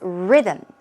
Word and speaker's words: rhythm: This one's easy, but just to make sure that you've got the correct pronunciation, it's rhythm.